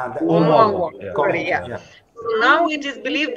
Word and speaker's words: Oumuamua: It is right that interstellar object, as you might know, the one that was called Oumuyamuyamu. I can't pronounce. Oumuamua.